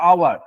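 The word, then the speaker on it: hour: হওয়ার কখনো বলি না। আমরা কি বলি? আওয়ার। দেখো এইচ এর উচ্চারণটা দেখো, এই যে এইচ এর উচ্চারণটা দেখো সাইলেন্ট থাকছে, আমরা আওয়ার বলি, আওয়ার।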